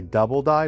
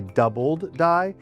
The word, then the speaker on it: doubled die: A lot of people say double die, but it's actually doubled die.